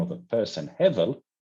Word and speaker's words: Hevel: that Cain and Hevel, and I'm calling you Hevel because this is the Hebrew name of pronunciation. The English one is Abel.